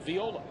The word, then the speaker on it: Viola: that last name is Viola. Well, it is. I mean, the I is pronounced as a hard E in Espanol, and so that's how you would say it in his homeland, Viola.